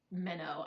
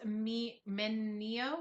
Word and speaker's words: Mineo: I always want to call it Minnow. I don't know why. Well, it kind of looks like Minnow. I mean, It does. Mineo, Mineo. Mineo. Mineo Emoto Enomoto.